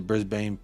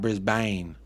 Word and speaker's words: Brisbane: totally right with the Brisbane Brisbane pronunciation hey there you go brisban not Brisbane uh honestly I was